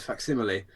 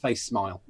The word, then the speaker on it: facsimile: I had read but not used the word facsimile, and it wasn't until I was 19 before I realised it wasn't pronounced face smile, which I agree.